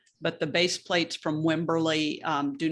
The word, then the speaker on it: Wimberley: um come from um wimberley w-i-m-b-e-r-l-e-y wimberly no it's like the town but it's spelled differently oh but it's wimberly and the best base